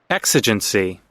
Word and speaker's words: exigency: Exigency. Exigency. There we go. The X and the G sound.